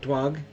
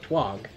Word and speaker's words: Twog: Dirt Twog, which is spelled like twig, but it has TWO, which is 2. Like the number 2.